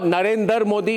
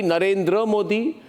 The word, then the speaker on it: Narendra Modi: Arnab, not Narendra Modi, Narendra Modi, not Kulbhushan Jadhav, Kulbhushan Jadhav.